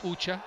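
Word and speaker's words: ऊँचा: un n c h people might have a different spelling to it but that's how you can say it ucha correct as long as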